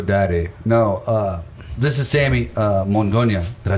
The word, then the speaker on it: Mongonia: and they were like, Mongonia, blah, blah. I was like, oh my God. It's awesome, though. I'm like, you put the wrong emphasis on the wrong syllable. Mongonia.